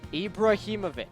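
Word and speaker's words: Ibrahimović: on purpose no I'm not say the name ibraimovic okay ibraimovic yeah perfect what did you say sloten Ibrahimovic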